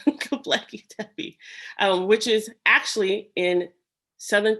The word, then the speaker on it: Göbekli Tepe: which is close to another archaeological dig called Globoteki. Globotepe. I keep saying it wrong, Göbekli Tepe, which is actually in southern Turkey, the Syria area, the border between Turkey.